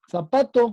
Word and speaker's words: zapato: Zapato, ¿cuál es la sílaba tónica?